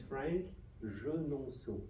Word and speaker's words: Franck Genonceau: My last name is horrible to pronounce. So I give a try if you don't mind. So my name is Franck Genonceau.